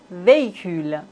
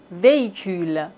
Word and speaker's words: véhicule: Dans la langue française, on ne prononce pas le H comme si ça n'existait pas du tout. Homme, hôpital, hôtel, véhicule.